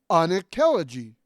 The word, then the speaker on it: Anankelogy: or K's, put together make the unk sound, as in thank you, or in sunk, or in link. Hence, Anankelogy.